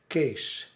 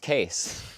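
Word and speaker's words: Kees: of that's just spelled k-e-e-s and it's pronounced case it's pronounced case and uh and apparently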